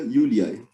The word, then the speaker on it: Iuliae: aparecer assim, mas esse J é para ser pronunciado como I, né, como uma semivogal de I. Yulia, Yuliai, feminino. Então, se eu quiser dizer a mãe de Júlia, da Júlia, eu digo Mater Yuliai, certo?